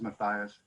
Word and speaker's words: Matthias: It looks, it's Matthias. Hello, everybody. Yes, you pronounced my last name correctly too. It is Matthias.